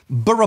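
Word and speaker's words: Borough Market: as in burough Market bur Market not burough Market it's similar to like you don't say Glaston bu you say Glaston b or Canon Bri and where is burough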